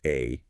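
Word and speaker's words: 愛: Pronounced exactly like the abbreviation for artificial intelligence.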